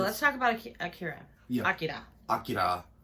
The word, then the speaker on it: Akira: Akira. If you want to be super proper, but most people just pronounce it Akira, so we're probably going to call it that for.